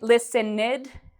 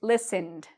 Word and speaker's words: listened: So we do not say listened, we say listened.